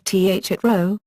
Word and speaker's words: Thoreau: Another, Perhaps more common pronunciation among modern-day American speakers is th at row, /th at rou/, accented on the second syllable. He himself wrote in his journals that his surname rhymed with Mrs. Storrow.